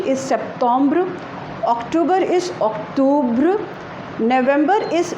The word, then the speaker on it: Septembre: So Septembre, Septembre, and the pronunciation is Septembre.